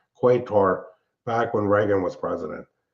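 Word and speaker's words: Qatar: I don't know why they started calling it cutter.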